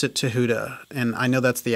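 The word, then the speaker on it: Thoth: focus on th the Egyptian deity and you pronounce it Tuda and I know that's the actual authentic way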